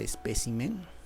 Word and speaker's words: espécimen: la palabra espécimen mira en la palabra espécimen la sílaba tónica es esta p que tienes acá este acuerdo espécimen está en singular pero qué pasa si yo lo llevo al número plural te vas a dar cuenta que su sílaba tónica se ha desplazado especímenes ha dejado de ser